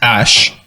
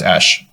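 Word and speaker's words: Æ: go, So, it is pronounced Ash.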